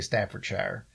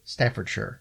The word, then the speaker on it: Staffordshire: pronounce that right because I would say Staffordshire but it's Staffordshire okay my my English people